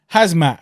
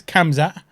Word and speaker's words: Khamzat: his name wrong and you always call him hazmat like say he's a flipping hazardous material suit yeah yeah but it is kamza how's that it's just a a regional pronunciation took on gerald meerkat